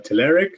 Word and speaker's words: Telerik: right or wrong uh we love saying uh telerik a lot of folks say telerik so yeah however you want to do it